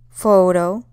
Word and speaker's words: photo: you can see that the stress in the first one is on the first o photo whereas the second one is on the second o photography it's where the most